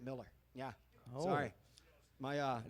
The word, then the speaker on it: Mueller: Bill Miller but he he's one of those who spells it Mueller and pronounces it Miller yeah sorry my uh